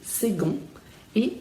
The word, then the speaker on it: seconde: Então a gente escreve second com C, mas com som de G, second, e seconde. Também aqui é o feminino, então não é o E que você está pronunciando no final, é o D, seconde. O C, novamente, com som de G, mas o D é bem pronunciado no feminino, enquanto que no masculino não é.